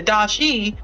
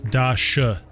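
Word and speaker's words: Da Shi: cool thing is the Dashi from the first book comes back he is the person just so you know Victoria it's Dasha that's how you pronounce it okay comes back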